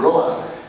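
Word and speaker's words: Lovaas: Entonces el primer ensayo clínico importante que vale la pena mencionar fue hecho por Lowas, o Lowas, como él decía que lo pronunciara.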